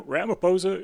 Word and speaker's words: Ramaphosa: Ramaphosa? Is that pronounced correctly? Yeah, Cyril Ramaphosa.